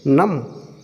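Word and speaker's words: numb: ऐसे ही इसको देखिए एन यू एम बी से बोलेंगे नाम सी आर यू एम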